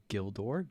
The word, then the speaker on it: Gildor: Um, oh my goodness, the whole thing is and like you said, G has only the sound of a G in give, get Gil, Gildor, Gilrain, usgile.